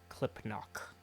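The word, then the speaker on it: Clipnock: n o c k it's exactly how it sounds gnomes all right all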